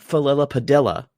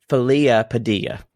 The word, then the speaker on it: Felissa Padilla: And she was, no, it's not Felilla Padilla. It's Felia Padilla.